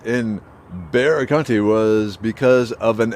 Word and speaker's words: Bexar: i was saying is bexar county is pronounced bear of course it is